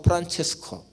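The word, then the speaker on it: Francesco: 우리가 아는 그 성 프란시스, 아시시 성 프란시스는 영어 발음이고 이탈리아 발음으로는 성 프란체스코, 이번에 교황도 이름이 성 프란체스코잖아요.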